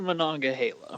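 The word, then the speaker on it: Monongahela: that live in the steel city but it's pronounced mananga Hala but that's okay and uh yeah um it's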